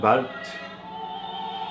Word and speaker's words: Wort: Now, Wort, and we Have to try and pronounce that. Wart. Rhymes more with fart than it does with word. It looks like wort, but it's really a schwa sound with a, starts with a V sound and then a schwa.